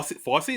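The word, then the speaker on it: Fossey: Diane FSY. There it is. Thank fy. FSY like Fsy Vernon. Uh not spelled the same way but pronounced the same way.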